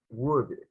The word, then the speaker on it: would: afternoon I study about wood, and I learned we don't pronounce the letter L. Yeah, actually, that's something we don't have to do, right? Pronounce the L, like in should and could.